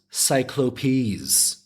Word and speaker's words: cyclopes: cyclops is cyclops seriously wait it says it's pronounced cyclopes that's ridiculous off merriam-webster cyclopes in any i'm getting sidetracked here so they